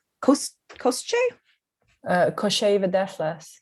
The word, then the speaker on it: Koschei: Oh, I shouldn't have brought this up because now I have to try to pronounce Koschei? Koschei the Deathless. Koschei, yes, the Deathless.